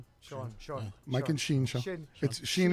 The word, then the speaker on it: Sean: either YouTube and type in the Mike and Sheen. Sean. Mike and Sheen Show. Sheen is spelled S-E-A-N.